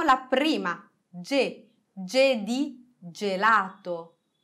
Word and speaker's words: gelato: prima che je di gelato gelato angelo angelo gentile gentile avete visto che il suolo di ge è un suono dolce ma se noi aggiungiamo